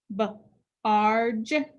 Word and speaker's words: barge: And the G is followed by E. That means it's a soft G. It says J. So we put a dot above it. Barge, barge.